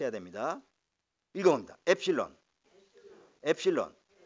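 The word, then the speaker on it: ἒ ψιλόν: g 해야 됩니다 이겁니다 엡실론 엡실론 엡실론 은 에 이름이 엡실론 이에요 엡실론 엡실론 자 앱 실로 4 4 그래서 에 발음이 나는 모음입니다 이건 뭐 입니다 그리고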